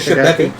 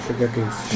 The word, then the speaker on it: Shigeki: You said the name wrong. What card is What it? do you think of Shibeki? No, Shigeki. Shigeki's.